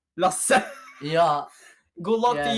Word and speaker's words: Lasse: It's called Lasse. Easy. It's easy. You just say Lasse. It can't be that hard. Yeah. It's like teaching people Norwegian. It's like teaching other people Norwegian shit.